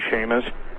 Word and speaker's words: Chamish: Yes, and interestingly enough, really interestingly enough, I don't know if you've ever read any of Barry Chamish, C-H-A-M-I-S-H, or some people pronounce his name Shamish, from Israel, but he's